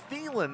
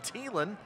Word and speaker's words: Thielen: who i find out almost everybody in the country has been saying his last name wrong everybody calls him adam thielen the wide receiver for the minnesota vikings turns out it's adam thielen jacob his cousin the